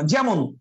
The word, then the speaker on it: যেমন: যেমন এই যে যেমন, এই ওয়ার্ডটাই খেয়াল করেন না, যেমন এই ওয়ার্ডটাই খেয়াল করেন।